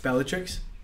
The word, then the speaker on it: Bellatrix: the trick is that strange what is it bellatrix bellatrix is that how you say it mm-hmm cool